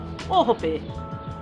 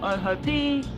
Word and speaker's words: Ohope: Ohope, not ohope or ohopi, ohope.